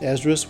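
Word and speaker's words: Esdras: the top you see first ezrus which is the English way of pronouncing the Greek name of Ezra e z r a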